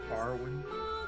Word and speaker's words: Aurynn: It's pronounced Auryn.